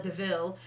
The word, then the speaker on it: DeVille: kind of jokes around says it's spelled like devil but it's deville um horse and jasper